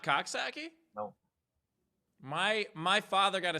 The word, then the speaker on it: Coxsackie: Coxsackie is correct. Is that right? Okay. Just like it sounds then.